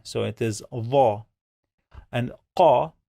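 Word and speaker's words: ق: it is va, and qa is a strong K.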